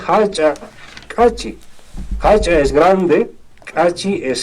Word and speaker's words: Achacachi: Por ejemplo, no se dice Achacachi, todos dicen Achacachi, no. Se dice Hachacachi.